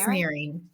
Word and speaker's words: Nehring: So, I am excited to have, how do you say your last name? It's Naring. Nearing.